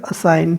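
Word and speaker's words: assign: से silent word है कैसे बोला जाएगा इनको साइन अजवाइन नहीं बोलेगा असाइन ठीक है फौरन इसको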